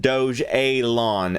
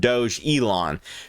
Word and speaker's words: Dogelon: it after a capital city on mars dojolon pronounced doge et lawn nat doge elon because they would be arrogant now it seems